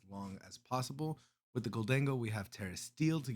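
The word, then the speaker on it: Gholdengo: All right, I know there's a little bit of a how to pronounce his name, but I say Goldango, so we're gonna go with Goldango.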